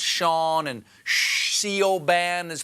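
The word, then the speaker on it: Seán: It's just one of those weird Irish things, like how Scene is pronounced Sean, and Siobhan is pronounced Siobhan, and soda bread is considered food.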